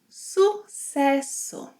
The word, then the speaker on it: Sucesso: Yes, in this word, the S, C, and double S have an S sound. Sucesso. Sucesso, which means success.